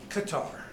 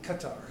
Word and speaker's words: Qatar: say you know that the locals say it qatar but they said with a gun roll sound that we as americans can't make so the qatar is about as close as you can get so when i was